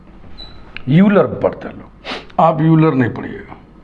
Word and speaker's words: Euler: आप यूलर नहीं पढ़िए इसका प्रोनंसिएशन वही करते हैं जो इंग्लिश के इस वर्ड का करते हैं ओ आई एल ई आर इसका प्रोनंसिएशन करिए यलर वही प्रोनंसिएशन इसका होता है यह बात लिखी हुई